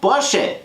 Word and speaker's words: Porsche: So, and the proper pronunciation is Ferdinand Porsche.